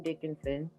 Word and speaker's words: Dickinson: You can find both my Facebook pages, which my biological name, Dickinson. That's Dick in son, spelled like a man with a boy.